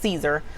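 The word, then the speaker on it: Siser: is fail si ser it's pronounced Caesar so Caesar vinyl is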